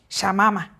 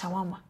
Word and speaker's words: shawarma: your body calling it shama as you're gonna buy shama you cannot even pronounce shawarma well i'm not surprised